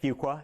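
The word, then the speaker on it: Fuqua: I did at Duke's business school which is pronounced fua it can go wrong in a hurry uh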